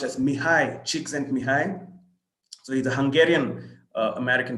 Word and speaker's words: Csikszentmihalyi: So that's what Martin Seligman looks like, and that's what that name is pronounced as Mihai Csikszentmihalyi.